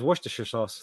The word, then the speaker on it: Worcester: saying it I just in the public chat pronounce that for me I thought it was wer sauce like wer yeah yeah that's what I thought